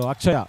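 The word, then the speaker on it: Atchaya: So Akshaya actually is what the name is, Akshaya. And it is written as A-T-C-H, Akshaya. That's how it is written in Tamil, where there's no sure pronunciation.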